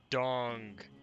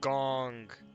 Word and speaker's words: gong: I have to say it's not dong it's gong could you do you